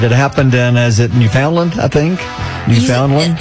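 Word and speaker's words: Newfoundland: happened in is it New Foundland I think New Foundland you say it like new Finland okay New Finland I'm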